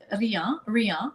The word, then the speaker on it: Riant: And I know you said Riant, but I didn't specify, but it is Riant. So it's French.